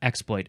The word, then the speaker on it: exploit: Yeah, and I definitely would want to emphasize the first syllable for this one, exploit. The other way is fine too.